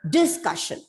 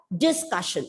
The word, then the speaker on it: discussion: Like discussion. So, saw that. Discussion. I'm stressing on the first syllable and the pronunciation is wrong. You have to pronounce the word as discussion. The penultimate syllable should be stressed.